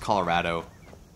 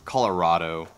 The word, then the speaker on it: Colorado: If you didn't know, I'm from Colorado. And it's pronounced Colorado, not Colorado. So if you're from out of state and you say Colorado, you're wrong.